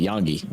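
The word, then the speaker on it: Iongi: Is it I Yongi is pronounced like a Y. Got it. Yongi.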